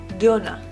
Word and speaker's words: dona: Donut equals dona you put the accent or the emphasis on the second syllable.